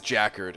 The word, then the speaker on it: jacquard: part in it okay it is jacquard okay all right jacquard all right well from here on out it's Jack wash that's that's number one okay I don't care how other people pronounce it it's Jack warred and I think to